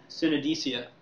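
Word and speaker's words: Cynidicea: Cynodicea. That's what I go with. Yeah. It's a good thing we know the name of a city that doesn't exist anywhere. So we're the ancient order from Cynodicea.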